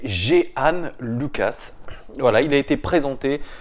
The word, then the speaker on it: Jean Lucas: de yoann jihane loquace c'est pas jean-luc as la prononciation de jean michel aulas s'était géhanne lukas voilà il a été